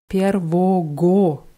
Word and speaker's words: первого: января wird mit Ws am Ende, mit zwei Ws ausgesprochen, aber geschrieben wird es mit einem G zwischen zwei Os. Первого wird das geschrieben, aber ausgeschrieben 1.